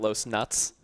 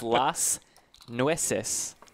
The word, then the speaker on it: Las Nueces: the person in chat correcting me saying Los nuts unsurprisingly that was incorrect it's Las Nueces thank you for that